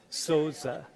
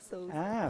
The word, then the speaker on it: Souza: Wait, how do you pronounce it? Souza. Mariluz? Mariluz? How do you say it? Say it again. Mariluce. Souza. Souza.